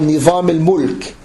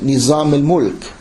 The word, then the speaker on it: Nizam al-Mulk: And then he was wanted by a person called Nizam al-Mulk. Some people would mispronounce it Nizam al-Mulk, who was a Sunni, and a Seljuqi.